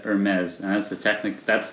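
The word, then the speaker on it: Hermès: of you that didn't hear that David said Hermes and that's the Technic that's the actual way that is pronounced it spelled h ER and yes is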